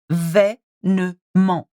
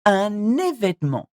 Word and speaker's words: événement: So you start événement, événement, événement, un événement.